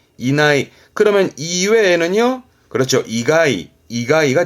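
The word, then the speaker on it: 以内: 이내, 어떠한 범위 이내의 발음은 이나이, 이나이.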